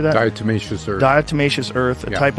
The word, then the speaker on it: Diatomaceous earth: Diatomaceous earth.